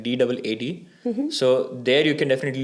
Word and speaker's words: DAAD: So one website that you could definitely refer, that's also by the German government, is DAD, pronounces like DAAD.